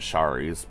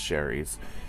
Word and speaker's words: Shari's: I call it Shari's, but I think it's just pronounced Sherry's.